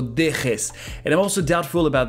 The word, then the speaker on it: dejes: I believe the famous Spanish Jota should be way harder. No dejes.